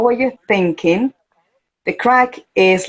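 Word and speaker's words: craic: it's an expression and it's spelled like the crack the bad one but it's not the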